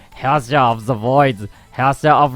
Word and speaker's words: Herrscher: I use for the Herrscher of the Void. So it's kind of, I'm just reading it literally in English, but it's actually Herrscher.